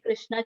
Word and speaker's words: Krishna: called the maha mantra pronounced krish na and rama rhymes with